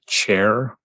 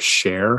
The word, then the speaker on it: Cher: You pronounced the main character's name Chair Hunt instead of Share Hunt. Yeah. And it's short for Cherokee.